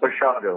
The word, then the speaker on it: Basiago: talking with, now Basiago, how do you say your last name? It's pronounced Basiago, like Chicago.